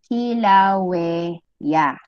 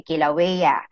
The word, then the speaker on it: Kilauea: Ang bigkas dyan ay Kilauea. Okay, Kilauea.